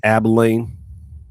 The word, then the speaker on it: Abilene: be pronounced Abilene.